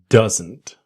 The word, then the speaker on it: doesn't: This video I want to show you doesn't. Let's go. Same basic idea. Does not doesn't. But what happens? The D is silent. It disappears. So we want that strong N.